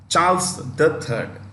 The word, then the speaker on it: Charles III: it is Charles three when you read the name before the Roman numeral before you read the number the should come Elizabeth the second Charles the Third okay but when you